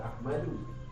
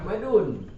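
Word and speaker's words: أحمدُ: Bacanya hada Ahmadu. Jangan baca Ahmadun.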